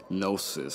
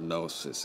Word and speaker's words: gnosis: And of course, the silent G and the word gnosis. So it's a play on words here, that the G is silent in gnosis because it's occult or it's hidden, right?